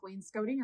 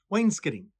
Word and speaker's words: wainscoting: in college they teach it both ways kind of depending on where you are North or South Wayne scouting or Wayne Scotty we thought it maybe was uh English and American but the true pronunciation is wainscating Wayne skidding Wayne's kidding so we're